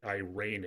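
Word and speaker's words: εἰρήνη: So phonetically, irene is the word.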